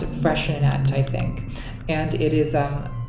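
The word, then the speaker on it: Freixenet: cava, Spanish sparkling wine, but this one called Freshenet, it's spelled some crazy way. I think I can't even spell it myself. It's F-R-I-X, yeah, F-R-E-I-X-E-N-E-T. It's pronounced Freshenet, I think.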